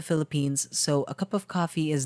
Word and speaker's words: Ko-fi: actually set up a coffee page if you didn't know coffee is a platform uh that's spelled ko-fi that allows anyone to